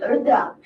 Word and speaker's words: Rudra: I am the name Rudra. Yes. Just three syllables.